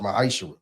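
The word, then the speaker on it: maaser: You can find this in the book of numbers chapter 18 21 in the book of Malachi 3:8-10 means 10th in Hebrew and it's pronounced maisher 10% of every penny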